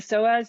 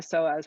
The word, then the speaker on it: psoas: The psoas is your deepest abdominal muscle. It's spelled PSOAS.